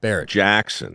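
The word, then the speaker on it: Barrett-Jackson: it the is it how do you say Barnett is that how you say the auction it's Barrett Barrett Jackson Barrett Jackson and this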